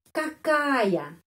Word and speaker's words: какая: Dan kenapa huruf ya yang terakhir pengucapannya ya, seperti namanya di alfabet, ya, di alfabet. Karena huruf ya, kalau sesudah huruf vokal ya, bunyinya benar-benar seperti namanya di alfabet. Ya, kakaya, ya, kakaya. Karena huruf A huruf vokal sebelumnya.